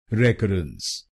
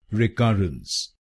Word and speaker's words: recurrence: wrongly many times like rekus. So let us know why this pronunciation is wrong and what is its correct pronunciation. Its correct pronunciation is rekus rekus. There are three syllables in this word.